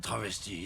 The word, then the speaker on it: travesty: It's a fucking travesty is what it is. Travesty. You gotta roll your R on travesty.